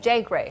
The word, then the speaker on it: JGrrey: right for pronounce what how do you pronounce Jay gray Jay gray that's it yeah how comes it to